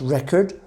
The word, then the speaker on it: record: noun that pay attention to the pronunciation it's pronounced record it means that to uh actually write note things down note down the things that you have done so it's like keep a record of something when it's a verb it's pronounced